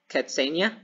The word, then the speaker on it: Katzenya: forgot your name we have how do you pronounce it cats catsania sure okay i have my friend katzenya here